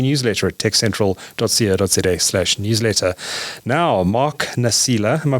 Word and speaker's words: Nasila: Now, Mark Nasila, am I pronouncing that correctly, Mark?